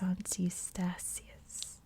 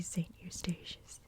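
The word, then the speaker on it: Sint Eustatius: islands for the netherlands i'm not quite sure how to pronounce because my dutch is pretty bad but i believe it's santistasius or in english would be saint eustacious santi estasis is a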